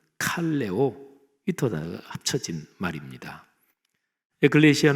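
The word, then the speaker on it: ἐκκλησία: 먼저 교회 교회 란 단어는 신약성경의 언어인 헬라어로 에클레시아 라고 발음합니다 저희 타 너는 두 단어가 합쳐진 말입니다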